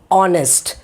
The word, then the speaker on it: honest: Example, honest. So H is silent.